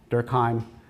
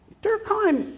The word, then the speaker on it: Durkheim: talking to about uh Emil durkheim uh to use my basically American pronunciation of his name um he took this